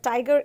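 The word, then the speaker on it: Tyger: first two words uh tiger is spelt a bit weird right it is spelled t y g e r but over here the y makes the i sound okay so in this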